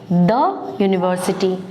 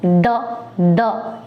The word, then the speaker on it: the: तो इस तरह से क्लियर है कि कॉन्सोनेंट साउंड्स के पहले THE जो शब्द है, जो आर्टिकल है, उसका उच्चारण हम द इस तरह करते हैं। आइए अब चलते हैं इसके एक और उच्चारण की तरफ, जिसमें हम लास्ट में बड़ी की मात्रा लगाते हुए THEE यानी डी की तरह इसको पढ़ते हैं, THEE दी। ये हम उसके वॉवल साउंड्स